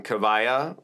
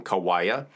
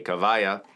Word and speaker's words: Kiwaya: have any information on kavaya ukuleles or you you might say you might call them Kawaii but W's are pronounced V's at least in the Hawaiian language so I'm going to say kavaya and I'm also going